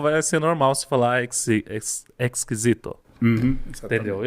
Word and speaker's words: exquisito: Por exemplo, temos exquisito, que em português é com S, né? E em espanhol com X. Então isso faz a diferença também na hora de pronunciar.